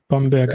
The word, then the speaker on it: Bamberg: Yes, Bamberg and Nuremberg.